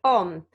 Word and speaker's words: Om: That's right, it's called Om, or it's spelled A-U-M or O-M.